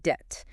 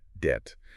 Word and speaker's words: debt: oh the word debt the B at the end is silent so it's pronounced debt it's another one where